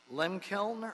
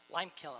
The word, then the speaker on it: Lime Kiln: elisso creek uh yeah i always lim kiln or lime kiln they'll tell me when you get here creek restoration project to receive and file the report mr flores how do you say that one lime kiln lime kiln i was right the second time all right my name